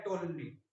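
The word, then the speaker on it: Ptolemy: Time बोला जाता है टोलमी। एनसीईआरटी में इसका थोड़ा सा पी साइलेंट होता है।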